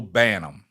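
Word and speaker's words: Banham: to be corrected man I butchered her name up now K Ellie Jones she got me straight it's Rachel banam I will remember that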